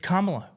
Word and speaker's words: Kamala: say her name correctly we know her name it's Kamala it's not hard K La it's not